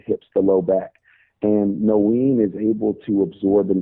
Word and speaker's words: Noene: Yeah, so that company is called nothin. It's spelled Noene.